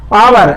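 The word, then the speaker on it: hour: इसी तरीके से आवर, एच से प्रारंभ हुआ है किंतु उच्चारण उसका स्वर आ में निकल रहा है, तो इसलिए इसमें एन का प्रयोग होगा।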